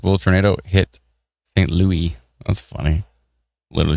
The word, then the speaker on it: St. Louis: Oh, St. Louis is how it's pronounced. Are you kidding me? It literally says St. Louis. It's pronounced St. Louis.